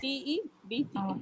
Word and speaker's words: debt: D-E-B-T. BT. Yes, B-T. it's Depth. depth. It's pronounced as a debt. Depth. DET, debt. Because the B is very silent.